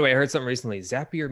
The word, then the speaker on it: Zapier: I heard some recently zapier makes you happier everybody doesn't know if it's zapier zapier sappy or rhymes with happier is what they said